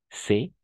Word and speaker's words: c'est: Uno es c'est, n'est-ce pas? C'est, y el otro es ce. D'accord? E ouverte, E fermé, E abierta y E cerrada.